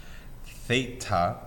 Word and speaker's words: theta: This is how you pronounce this, theta.